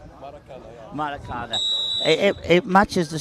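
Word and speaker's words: Maracanã: How do you pronounce it? Americana. Maracada. Maracana.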